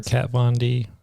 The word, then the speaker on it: Kat Von D: I'm glad we took 30 seconds to do that before we spend the rest of the podcast talking about Hooray for Kat Von D.